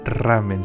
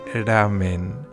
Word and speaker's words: ramen: Y la hermana Liu vietnamita pues hizo para comer no voy a decir ramen porque no se dice ramen, se dice ramen, un ramen vietnamita.